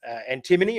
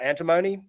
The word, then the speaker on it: antimony: Um, apparently the, um, the Queen's English it's antim um, antimony and it's antimony in um, in Australia, in the US.